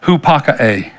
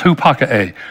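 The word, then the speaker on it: ὑπακοή: I know anybody that would speak Greek or know Greek would probably cringe at the way I pronounce it, but it's hupakae, the word obedience, hupakae.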